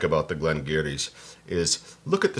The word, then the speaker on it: Glen Garioch: Glen Garioch. And I was like, so it's spelled this way?